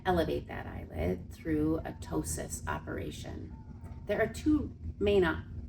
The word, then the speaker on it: ptosis: tosis or PT sis is how we spell it the p is silent is a a droopiness of